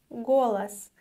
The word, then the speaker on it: голос: The next word is голос, голос. Once again, pay attention to the pronunciation of the unstressed O. Голос, голос.